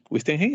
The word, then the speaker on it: Wittgenstein: Wittgenstein, así se pronuncia.